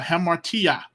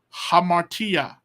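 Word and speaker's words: ἁμαρτία: to see so uh hamartia it's a h because there's a rough breathing I don't know if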